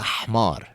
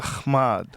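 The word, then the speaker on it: حمار: Inta hmar. Inta khmad. But see, you're saying kh. It's h.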